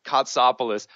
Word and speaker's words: Kotsopoulos: awesome name which I hope to God I pronounced correctly which is Peggy copoulos Peggy welcome to the show thank you and